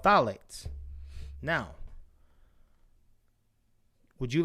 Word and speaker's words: phthalates: we'll do it one more time they're called phthalates now would you like to go more into